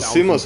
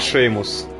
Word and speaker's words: Seamus: Мне интересно, кстати, почему слово Симус они произносят как Шеймус.